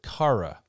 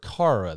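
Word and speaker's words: χαρά: uh it would be we would pronounce it kara or something similar to that and you can see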